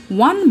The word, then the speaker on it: one: a one rupee note because one begins with the consonant sound of w hey now that